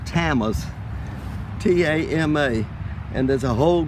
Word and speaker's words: Tama: These are called tamas, T-A-M-A, and there's a whole group of tamas, but the distinguishing characteristic is this white pickety border.